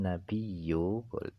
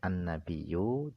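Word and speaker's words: النبيّ: Hamzah fiquihi pada perkataan ayyuhan nabiyu ini wajib membaca tasjid ayyuhan nabiyu itu wajib dibaca wajib juga membaca kalau tidak dengan tasdid ayyuhan nabiu karena huruf ya itu boleh diganti dengan Hamzah dan EE cara baca yang lainnya nabi itu bisa dengan dua cara boleh annabiu boleh annabiu juga boleh jadi wajib membaca tasydid atau membaca Hamzah jadi wajib dibaca annabiyu jika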